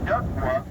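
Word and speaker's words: DUKW: There are 2 powered axles in the back of the truck, so D-U-K-W duck-wa, as everyone used to pronounce it.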